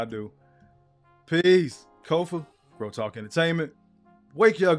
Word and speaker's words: Kofa: Once again, I am your humble host, Kofa. Ko FA, not coffee, not kufu, not kofi, or any variation thereof. Kofa rhymes with sofa.